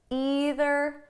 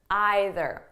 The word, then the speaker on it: either: So you can say neither, neither, either, either. Okay, there's no difference. I might even change them throughout the video. If I do, there's no difference at all.